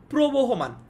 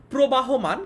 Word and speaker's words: প্রবহমান: বলছি নদীর মতো প্রবহমান, এটাকে অনেকে ভুল উচ্চারণ করে ভুল বানান লিখে, অনেকে লিখে এটা হচ্ছে প্রবাহমান, কিন্তু এটা ভুল। প্রবাহমান এটা ভুল, এটা প্রবহমান হবে, ঠিক আছে?